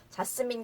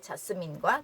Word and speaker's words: Jasmine: 그래서 자스민 공주가 아니라 프린세스 자스민이라고 합니다. 지금 요거 듣고 나서 혹시 그래? 싶으시면 유튜브 같은 데도 좀 찾아보세요. 워낙 이름이 많이 언급이 되니까 프린세스 자스민이라고 얘기하는 거 딱 그 발음 차이를 들으실 수 있을 거예요. 우리의 자스민과 좀 다른 그쵸?